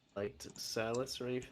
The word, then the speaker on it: Silas: His name is Silent? Silas.